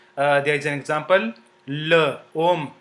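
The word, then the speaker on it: l'homme: before it like uh there is an example L om l means the as in English you know uh uh the definite pronoun the so l l l om om which means men so together they become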